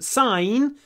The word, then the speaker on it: sign: is signature Sig so in sign we don't pronounce the G but in signature we